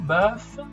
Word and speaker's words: bœuf: En general es un E normal, E, un poco más abierto, bœuf, porque la letra que sigue es una letra abierta, F, R, ¿no?